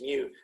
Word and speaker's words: mu: probably spell it but you pronounce it like mu like a kitten like a cute little kitten mew mew mew so it's a lower